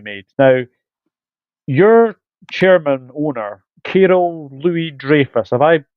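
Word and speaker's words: Kyril Louis-Dreyfus: Now, your chairman owner, Carol Louis Dreyfus, have I pronounced that right, Yes, or you have have.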